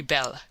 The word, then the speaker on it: belle: that they are very belle. Now don't mispronounce things and get sore till you know. You pronounce that like bell and push button.